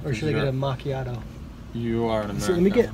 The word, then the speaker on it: macchiato: Like macchiato in Italian means like it's stained.